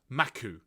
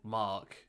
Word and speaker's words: Mak: his name is Mack spelled m-a-k or pronounced maku in Japanese and I'm gonna I I thought initially he was called Mark and I was like